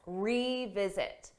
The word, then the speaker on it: revisit: But for pronunciation, that re is a strong sound. E. You hear that E.